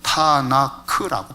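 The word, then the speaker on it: Tanakh: 그래서 TNK라고 하는 앞글자에다가 모음 R을 붙여서 타나크라고 발음을 하는 거예요.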